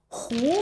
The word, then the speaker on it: 和: huò, huó这两个词就是搅拌混合These two pronunciations mean "to mix" or "to blend." 比如：和点水泥把洞堵上For instance, "huó 活点儿水泥，把洞堵上" (huó diǎn er shuǐní, bǎ dòng dǔ shàng) translates to "Mix some cement and seal the hole." hú (和)这个字，是打麻将赢了，就说和(胡)牌 This pronunciation is used in the context of playing mahjong. When someone wins in mahjong, they say "和牌" (hú pái) to indicate they have won.